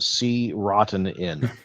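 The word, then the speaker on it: Sérotonine: book so yeah yeah albion is properly pronounced see rotten inn we will do the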